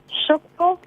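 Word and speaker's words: Tchoukball: So how do you pronounce it? Shukbo. Shukbo.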